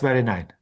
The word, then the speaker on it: Benjamin: of others like Walter Benjamin. I never know if I'm pronouncing his last name. That's that's Benjamin. Yes yes it's a German name.